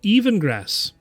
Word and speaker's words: Yevengras: It's Let me Yevengras. guess. Are you asking It's him? Beyond. I'm asking you. It's Yeven space Gras. Oh, okay. Sometimes it's pronounced Evengrass.